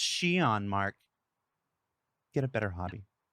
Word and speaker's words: Xi'an: And if your instinct was to stop the YouTube video and go immediately to comments and say, it's pronounced Xi'an, Mark, get a better hobby.